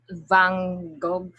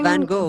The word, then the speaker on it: Van Gogh: um uh, Van Gogh, I don't Ah, know. Vincent van Gogh.